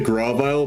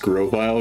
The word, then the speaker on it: Grovyle: and I say grab aisle but it's supposed to be pronounced Grovyle because it's supposed to be like a Grove an aisle as